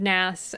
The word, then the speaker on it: Nass: But Clifford Nass, the book Wired for Speech, has just, I read it and it just blew my career open.